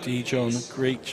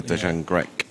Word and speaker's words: Dejan Grek: 7:30 game was meant to be Rob Sim against Dijon Greek. I never pronounced his name right there, but Oh, the Maltese, yeah, Dejan Grek.